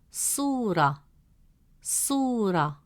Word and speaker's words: صورة: Since the long vowel waw comes immediately after su, it stretches the short oo sound into a long oo sound.